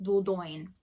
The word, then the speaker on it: Dordogne: picked up in may was death in the dordogne as i've been told that it's actually pronounced dordoyn i don't speak french this is the book